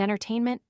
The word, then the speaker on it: entertainment: The final syllable is sounded, patience 10:29 is trisyllabic, devotion 10:40 is 4 syllables, and entertainment 10:37 is accented on the 2nd and 4th syllables.